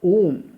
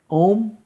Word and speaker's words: ओम: ओम ध्वनि, अ उ और म।